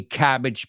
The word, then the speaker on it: cabbage: Pero el aje no es age, it's idge, cabbage patch.